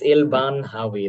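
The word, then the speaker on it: Elbanhawy: well sorry I still I don't need different pronunciations of the name it's ill-ban Howie that's that's as simple as that but anyway thank you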